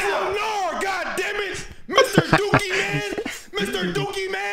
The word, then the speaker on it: Lenarr: Lenard. My name is not Lenard. It's Lenarr. More like Lanier.